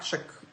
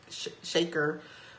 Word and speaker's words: Shakur: announcement announcer came on it's a Tupac Shakur shaker was killed and that made me pause and I immediately got angry cousin what you said his name wrong and I was 617